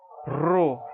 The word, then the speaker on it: rho: Que equivaleria ao nosso R em português, tá? Como em run em inglês. Apesar do maiúsculo parecer com o nosso P, tá? Mas não se engane, isso tem som de R, tá?